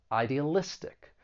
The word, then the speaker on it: idealistic: of internationalism for pronunciation there are five syllables the stress is on the second to last syllable idealistic now to give you